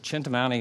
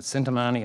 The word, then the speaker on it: Chintamani: called a chani Stone I pronounce it chintamani as some people pronounce it cintamani I think it sounds